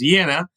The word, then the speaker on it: Jena: Or in Louisiana, they can drive through the city of Jena, Louisiana, although it should be pronounced Jena, also named after the Great Battle that Napoleon won against the Prussians.